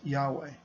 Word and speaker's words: Yahweh: During this reading, we will be pronouncing the divine name as Yahweh.